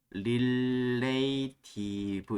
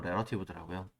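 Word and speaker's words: relative: 많은 사람들이, 아니, 저 같은 경우 옛날에 이걸 발음 자체를 좀 읽기 위해서 릴레이티브 이렇게 기억을 했거든요. 근데 정식 발음은 레러티브더라고요.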